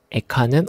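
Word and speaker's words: איכה: 히브리어로도 이 책은 에카입니다. 에카는 어떻게 혹은 슬프다를 의미하는 탄식의 표현입니다. 흥미롭게도 우리말 애가와 발음이 비슷합니다.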